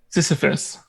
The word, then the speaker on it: Sisyphus: Sisyphus.